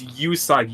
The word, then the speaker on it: Usagi: It's Usagi. You say the U in it.